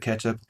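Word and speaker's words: k3sup: There is K3s up, or I think he typically pronounces it ketchup, by Alex Ellis, which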